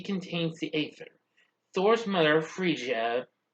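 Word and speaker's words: Frigga: the ather thor's mother freesia yeah that's how you pronounce it not forget i do apologize since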